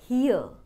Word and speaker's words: here: came from that we pronounce h e r e as hare the correct pronunciation of this word is Heeuh Could you please come here for a minute, Please write this pronunciation carefully or remember it and stop pronouncing is as hare it is supposed to be heeah And this is a